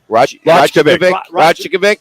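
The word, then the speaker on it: Rajaković: Rajakovic. Rajakovic.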